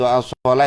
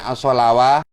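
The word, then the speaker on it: الصلاة: Itu sama, itu as-shalah itu tulisannya as-shalawah, bacanya as-shalah ya.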